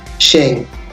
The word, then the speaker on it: Sheng: the middle of of the s in Now Pronounce it Shang and the word the term was fast recorded in the year 1965.